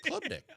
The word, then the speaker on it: Klubnik: Klubnik? I don't think there's an ER at the end. I said Klubnik.